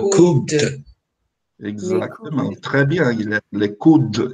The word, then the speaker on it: coude: Le coude. Esse dele está aqui porque ele é pronunciado. Por isso que ele está aqui.